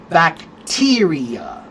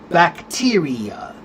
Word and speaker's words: bacteria: Uh or the word bacteria. Bacteria. It's on the second syllable. Bacteria. Okay.